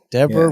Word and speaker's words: Deborah: deborah very good there deborah rhymes with zebra ah yes the old